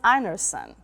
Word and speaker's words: Einarsen: good to see you your surname is anerson you got it perfect did I pronounce it correctly perfectly okay it comes from Norway my grandfather was from Norway mhm excellent but you